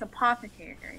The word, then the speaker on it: apothecary: It's apothecary.